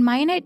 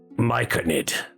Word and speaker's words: myconid: May I have the pan-fried mayonnaise cap with garlic butter? Myconid. It's pronounced myconid.